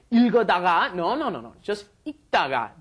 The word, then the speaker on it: 읽다가: Just 읽다가. The li을 발음 is not pronounced. There's no L sound. You just say 읽다가, as in when you just pronounce the basic form.